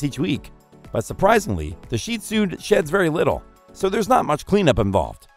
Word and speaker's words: Shih Tzu: Dog number 8: The Shih Tzu (pronounced "sheed-zoo" or "sheet-su") This is a small dog but one that's big on affection.